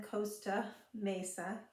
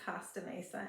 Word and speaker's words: Costa Mesa: was saying it wrong I was saying Costa Mesa and he kept correcting me because it's not phonetic it's Costa it should be Costa if it's following phonics rules but anyway that's the